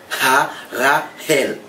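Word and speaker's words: Harahel: Le son H, fait H la sortie, ok? Ha-Ra-Hel.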